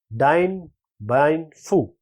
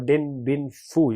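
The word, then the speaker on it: Điện Biên Phủ: The answer here is Dien Bien Phu. or Dinh Bien Phu. You can pronounce it like this.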